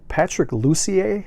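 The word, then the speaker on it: Patrick Lussier: was uh directed by patrick lucier i believe is how you pronounce it and he was also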